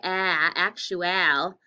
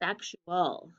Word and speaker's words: actual: Is there a schwa in this word? Yeah, that A. It doesn't say actual. It's actual. So the vowel changes a little bit.